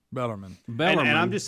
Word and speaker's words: Bellarmine: mm-hmm and but but but bellamon bella got an r on it yeah bellarmine and i'm just saying